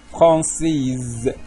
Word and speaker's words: française: حديقه الحيوان فرانسيز فرانسيز عندنا هذا الاس هذا ملي كيتلاقى ما بين جوج ديال الفويل كيتلفظ بحالو بحال حرف زد يعني في هذه الحاله تلاقى ما بين اي و او غادي تنطق زد فرانسيز فرنسي وكذلك اكس ملي كيتلاقى